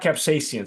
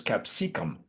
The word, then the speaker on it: capsicum: It's not capsaicin, so it's capsicum.